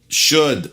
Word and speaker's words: should: dit ça c'est dit le elle ne se prononcent pas comme dans code wood chaude away à nouveau s'il